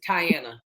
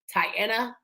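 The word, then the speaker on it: Tiana: My first name is Tyiana. You want me to spell it for you? My name is T I A N A. M A Y S M I T H. My name is Tyanna.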